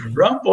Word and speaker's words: Rimbaud: chamado Rambo, que é o Rambo, é como se fala Rimbaud lá em inglês, né?